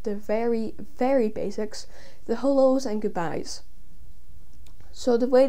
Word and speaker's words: halò: hello which in gaelic is hello it's just hello h-a-l-o where the grav or strachan is called